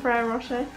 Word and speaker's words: Ferrero Rocher: How do you say that in Italian, Ferrero Rocher?